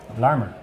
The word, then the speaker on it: Larmour: Stephen D asks, is it pronounced Larmer or Larmour? Both of you might know the answer, or possibly not. Larmer. Larmer? Yeah. I think Larmer.